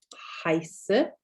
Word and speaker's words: heiße: EIs, meaning, which is pronounced I. So heiße.